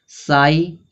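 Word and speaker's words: sigh: फिर आगे यहां पे दिया है साई लास्ट में जी एच आ रहा है तो जी एच आ रहा है तो जी एच क्या होगा? साइलेंट होगा।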